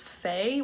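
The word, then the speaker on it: Fei: It was this Fay, which is I think how you pronounce it, F-E-I, sold an Anthropologie silk floral blouse.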